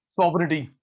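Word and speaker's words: sovereignty: तीसरा, freedom of choice to consumer, इसके लिए वर्ड होता है कंज्यूमर सॉवरेनिटी, SOVERI, जी साइलेंट होता है, NTY। गंभीर साहब, सॉवरेनिटी, आप किंग है।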